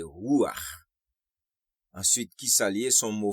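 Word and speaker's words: רוח: Nous te ouais mot ça en hébreu qui c'est ruach qui signifie souffle, vent et esprit. Mot original là, c'est resh, vav, chet, qui c'est ça que fait les prononcer ruach.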